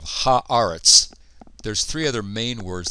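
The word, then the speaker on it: הָאָרֶץ: Eretz is one of a handful of words that when we put a definite article on it, the vowel in the first syllable changes, and so it becomes aretz instead of eretz. So we have ha'aretz.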